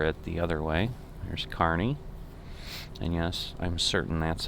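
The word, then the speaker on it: Kearney: once going over it the other way there's carney and yes i'm certain that's how it's pronounced we had a plant there too so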